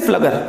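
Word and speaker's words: Pflüger: Tube of पी फ्लगर, यस फ्लगर, P silent है वहां पे, कॉर्ड ऑफ एक ट्यूब, द कॉर्ड ऑफ एक tube, that is अ पी फ्लगर।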